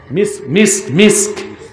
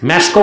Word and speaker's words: মিস্ক: মিস্ক মেশকো বলেন যে, এটা ভুল উচ্চারণ, মিস্ক।